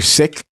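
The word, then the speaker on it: Sikh: so like yeah everybody they're either sick right which is the real pronunciation the correct pronunciation of seek seek is wrong yeah we sick and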